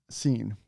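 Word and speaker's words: Seine: sign it's it so it's sign or scene it's a river in paris yes i know i did not know that i had to look it up i believe it's pronounced scene so insane the best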